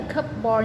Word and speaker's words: cupboard: Nó viết là cupboard nhưng mà đọc là cupboard.